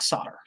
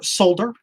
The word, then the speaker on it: solder: their little cups and they take solder or solder as the friends across the palm like to say because it does have an l in it just because us americans mispronounce things doesn't mean that's the way it's supposed to be yes i've been uh